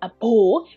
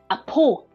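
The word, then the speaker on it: အဘိုး: According to the spelling, it is like bo. But when it comes to the word, we don't pronounce a bo, we just pronounce a po, a po. So please remember that spelling is a bo, but we pronounce a po, a po. Okay, so spell is with ba, but pronounce is with pa.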